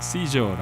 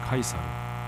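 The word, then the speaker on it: Caesar: 몇 번 드렸던 말씀이라 우리 식구들은 제법 아시는 말씀입니다만 우리가 시저라고 옛날엔 불렀던 카이사르 같은 이름이에요. 카이사르는 라틴어 발음에 충실하게 부르는 것이고 시저는 아마 영국과 미국 계통의 나라에서 그 이름을 지칭하는 말이었을 겁니다. 로마의 황제를 이후에는 지칭하는 말이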